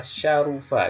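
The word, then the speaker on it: شَرُفَ: Kemudian contoh ketiga adalah syarufa, di mana huruf kedua atau ain fi'il di sini fa fi'il, ain fi'il, lam fi'il. Ain fi'ilnya berbaris dhammah, syarufa.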